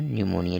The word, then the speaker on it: निमोनिया: से पढ़ा जाएगा निमोनिया हो गया यहां पर पीस साइलेंट है ध्यान रखिएगा निमोनिया हो गया तो